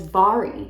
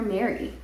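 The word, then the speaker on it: Mhairi: Then I finished Just Last Night by, apparently you pronounce this woman's name as Byyye. I kept calling her Mary.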